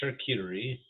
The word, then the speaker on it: Charcuterie: Mary likes the charcuterie. Room. So you got to pronounce it like it's French.